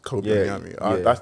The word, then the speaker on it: Kobi Onyame: It's Kobi Onyame. That's how I pronounce it. It's Kobi Onyame. That's because of my own accent.